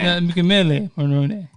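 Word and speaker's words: Michele Morrone: And that next name you pronounce in the Italian way. Oh, so it's Michelle Marrone. Michele Marrone. Marrone!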